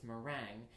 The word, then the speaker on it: meringue: We work on pronunciation because, for example, whereas in baking I would call it whipped egg whites meringue, in Japan that's called merengue. Okay. But I had to explain to them that's for us is a dance.